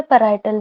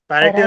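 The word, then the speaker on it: parietal: पैरेटल भी पैराइटल। बोल देते हैं, पार्शियल भी बोलते हैं पैराइटल। उसको ना, पैरेटल लोब कहते हैं मोस्टली। ठीक है, पैरेटल। कई जगह प्रोनाउंसिएशन पार्शियल लोब भी कहते हैं उसको, ठीक है। पैरेटल भी इसको बोल सकते हैं।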